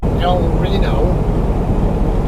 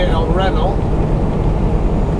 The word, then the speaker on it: El Reno: Or for those of you guys who are language challenged, El Reno is how most of you guys would pronounce it. Pronouncing it the Spanish way, be El Reno.